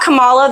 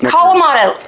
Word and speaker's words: Kalamata: We have butchered everything. We call the olives Kamala. They're not Kamala.